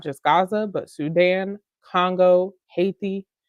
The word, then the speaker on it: Haiti: Gaza but Sudan Congo Haiti hati if you want to pronounce it correctly to gray all of